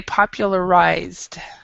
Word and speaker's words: popularized: How can I pronunciate popularized? Okay, you'd say popularized. Popularized. Okay. Thanks. Popularized. Yeah. And it's popular and then ized. So this is like a D sound. So you wouldn't pronounce the E.